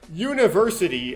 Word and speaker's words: university: or consonant spelling so University I know it starts with the letter U but you when you pronounce it it's y University it's a y sound which in why that